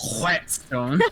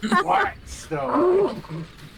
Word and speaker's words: whetstone: It's Just whetstone. pronounce it whetstone. What stone? Whetstone.